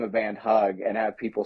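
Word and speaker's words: Hugg: So I've been named this project Hug, like Hug. HU double G, but the second G, as you know, was silent.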